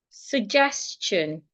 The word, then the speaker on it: suggestion: For example, suggestion. Suggest. Suggest. Suggestion. Suggestion. The s before the t makes the t sound like ch.